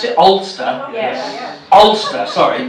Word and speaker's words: Alcester: ] me oler how is that how we pronounce it olster yes olster sorry not olster in nor Ireland